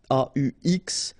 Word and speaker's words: aux: then a plus les will become o, aux, but then remember that phonetically it's o.